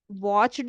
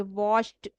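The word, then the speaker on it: watched: form है वच की लेकिन हम इसको प्रोनाउंस कैसे करेंगे वाच्ड नहीं बोलेंगे वाच्ड टी का साउंड आएगा वाच्ड हाय राम यस आई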